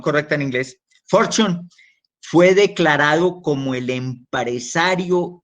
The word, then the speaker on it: Fortune: de la revista fortune for zion for zion pronunciación correcta en inglés for zion fue declarado como el empresario del siglo 20